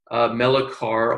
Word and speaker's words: Melichar: Today we have Nicole Melichar on. Am I pronouncing that right? Is it Melichar?